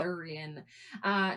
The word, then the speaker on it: Arthurian: enchanter or a wizard, and he's featured in Arthurian legend Is that how you say Yep. it? Yep. Arthurian.